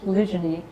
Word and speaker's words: polygyny: So this means that polygyny, or multiple mating, sometimes pronounced polygyny, is a statistical certainty.